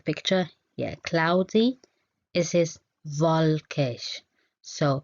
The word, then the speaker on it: wolkig: So pay attention in German, the W, okay? So we call it V, okay? So it is pronounced V, V, V. This is the sound of the letter W in German. It's not W, it's not wolkig, it's wolkig, wolkig, wolkig.